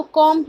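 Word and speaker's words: comb: कॉम, K with M, ठीक है, कॉम, डी की साउंड नहीं आती है, साइलेंट होती है, तो कॉम ही बोलते हैं हम, ठीक है, लेकिन यहाँ पे हैवी डैश है.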